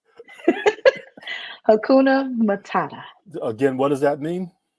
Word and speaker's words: Hakuna Matata: So how do you pronounce that? Hakuna Humana? Hakuna Matata.